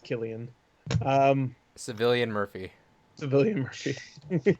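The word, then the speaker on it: Cillian: morphy all right it's I think I'm pretty sure it's pronounced Killian um civilian Murphy civilian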